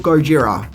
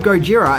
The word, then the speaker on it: Gojira: film were originally called Gojira which is the Japanese pronunciation of the name but there is actually an interesting story behind this name the word Gojira is an amalgamation of